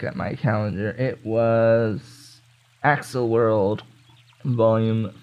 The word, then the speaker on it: Accel: my calendar it was axle world vol 5 of the light novel or accel world or however the heck you want to pronounce it pretty sure it's supposed to be excel like accelerated having started reading it